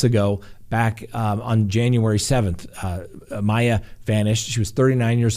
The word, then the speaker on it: Maya: ways and his wife spells his name maya m-a-y-a but it's pronounced mei so i know sometimes